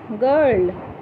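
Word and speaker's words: girl: জেনে যদি আমি চাও জি আই আর এল গার্ল জি এর পিছ কি আছে আই আছে নিয়ম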